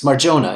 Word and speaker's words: Marjona: pronouncing your name right is it mariona or marjona your pronunciation good okay so it's true yeah it's marjona it is jonah okay